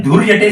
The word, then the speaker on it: धूर्जटा: ये धूर्जटा नाम की, अगर धूर्जटा ये वर्ड आप बोलते जाएंगे तो आपको एक ऐसा प्रोनाउंसिएशन मिलेगा, धूर जटा।